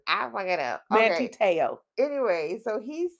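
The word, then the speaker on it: Manti Te'o: Manti-Te'o. And why why you say it like one? I don't know. You say it like one word. I fuck it up. Okay. Manti-Te'o.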